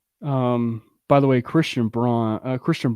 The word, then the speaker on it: Braun: Charles Barkley Warren um by the way Christian Braun Christian Brown is having a really really good game right now this guy all this guy does okay it literally says on her last name pronounced Brown it says that on the game okay you